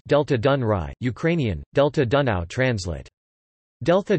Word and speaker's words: Delta Dunării: The Danube Delta, Romanian, Delta Dunării, pronounced Delta Dunăre, Ukrainian, Delta Dunăre, translate Delta Dunaju, is the largest river delta in the European Union.